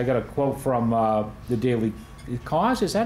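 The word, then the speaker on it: Daily Kos: I got a quote from the Daily Cause. Is that how you pronounce it?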